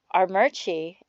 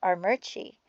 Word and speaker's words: Armuchee: And then there's a city called Armuchee, and it's spelled Armuchee, but it's pronounced Armuchee.